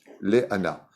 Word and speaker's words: Léana: qui en est ressorti, ça s'écrit Lamed, Aleph, Nun, He en hébreu, Léana. Donc sous le Lamed, vous avez un Sheva, donc 2 points. Sous le A, vous avez un Patach.